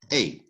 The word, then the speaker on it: et: don't say end that's a in english right so et is a which is and so you pronounce it if you want to